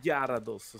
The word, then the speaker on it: Gyarados: Gyarados, Gyarados si pronuncia.